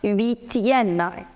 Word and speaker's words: huitième: So it becomes huitième.